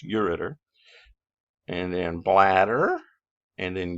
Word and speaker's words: ureter: all i'm giving you on urinary is kidneys you read ters i'm pronouncing it wrong so you'll spell it right it's pronounced ureter and then bladder and then you read the